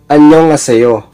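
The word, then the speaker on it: 안녕하세요: Pero kung bibilisan mo yung basa niya, ang sounds niya ay magiging anyong haseyo. So, nawawala yung H sound. Madalas po sa Hangul, itong mga H sound na ito ay mahina or hindi nabibigkas. So, meaning ng anyong haseyo is hello.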